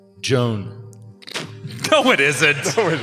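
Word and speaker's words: Jowne: It's spelled J O W N. Joan. Joan. Yes. It's a fantasy. That's how they spell Joan in this fantasy.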